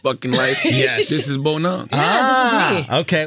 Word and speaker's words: Bonang: Remember when I was shouting out, I was pronouncing her name wrong because I was saying Bonang, but it's Bonang.